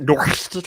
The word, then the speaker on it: NOHRSC: Should I pronounce that Norst or something? That's right. Anyway, it's a real hard R.